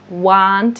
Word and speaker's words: want: Want. So want, if it helps you with those vowel sounds, want, you can imagine want is like a tall sound, want, and you can imagine won't as like a round sound, yeah?